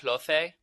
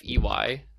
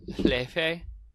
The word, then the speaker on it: Laufey: gets her name wrong. It's Laufey. Oh, yes. Laufey. But she's Icelandic, so it's pronounced Lefe or something like that.